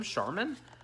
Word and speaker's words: Sharman: a gym um jim sharman that's charmin right no it is charmin but it's not spelled like charmin uh so really nice